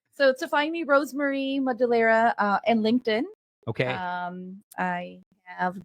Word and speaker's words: Madulara: I'm Madulara, and how do you pronounce that again? Madulara. Madulara.